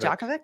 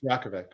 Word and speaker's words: Djokovic: that can work so sulfur says the j is pronounced as a y so is it is it diakovic instead of jokovic yakovic diakovic it's the